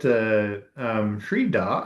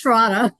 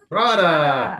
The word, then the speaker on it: Shraddha: We should get Shrida, I believe is how it's pronounced, waiting patiently. Very patient. Yeah. It's Shraddha. Shraddha.